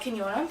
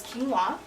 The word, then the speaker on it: quinoa: normal wheat pasta so I have made a quinoa or as some people call it kinona but the proper pronunciation is quinoa pasta with I used the raw sauce which